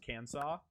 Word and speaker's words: Kansas: That's actually pronounced Kansas, like the other state.